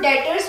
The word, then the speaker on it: debtors: So debtors में सबसे पहले see this B, ये जो B है हमारा that is silent. So हम इसे बोलते हैं debtors.